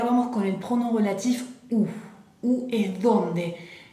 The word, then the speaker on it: où: Y ahora vamos con el pronom relatif où. Où es donde. Fíjense bien, está con acento, no cambia la pronunciación.